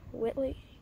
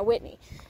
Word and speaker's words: Whitney: Wait, I always say Eli's last name wrong. Whitney? Eli Whitney, right? Whitley? Whitney, yeah, Whitney.